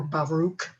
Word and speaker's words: Baruch: text starting with the book of baruch or baruch english pronunciation and will end with